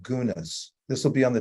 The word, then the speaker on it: guna: those modalities I talked about they're also called gunas this will be on the test by the